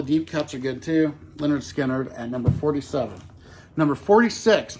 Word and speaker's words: Lynyrd Skynyrd: 47 I've got the debut from Leonard Skynyrd pronounced Leonard Skinner and this is one of my favorite debut